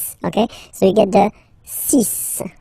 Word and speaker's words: six: So you get the sis pronunciation sis sis. Okay. So it's not six, it's sis.